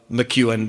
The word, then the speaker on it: McKeown: It's kind of like Ewan McGregor, only there's a Mick in front of it, right?